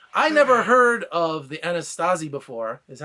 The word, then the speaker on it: Anasazi: Navajo so I I never heard of the anastasi before is that how you say it yeah the Anasazi Anasazi yeah so I'm sitting here telling him